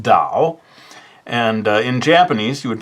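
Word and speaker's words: 岛: In this case, I've chosen the word for island, which I believe in Chinese, Mandarin Chinese, is pronounced Dao.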